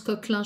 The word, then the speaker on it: Coquelin: Ça se prononce Coquelin, je crois qu'elle est suisse-allemande ou quelque chose comme ça.